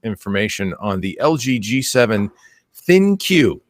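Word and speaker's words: ThinQ: on the LG g7 thin queue is how you say that I was thinking it was think a funky way of saying think but I don't know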